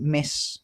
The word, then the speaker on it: Ms: married or unmarried we'll just put ms the pronunciation is the same as this so miss okay so she's a